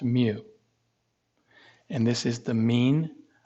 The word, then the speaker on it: mu: greek letter for small m and this is pronounced mu and this is the mean of the sample